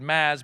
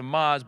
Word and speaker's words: Maz: You Marissa thank you you mispronounced my first name you said Mads but then you correct it to Maz but then you gave up and went with mr.